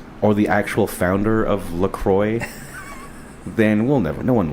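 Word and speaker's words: La Croix: I thought it was Lacroy. I think that's probably the right way. I don't know why. I I like to say laqua because I'm pretentious probably, but uh it sounds about right.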